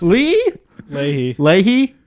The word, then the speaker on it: Leahy: Leahy.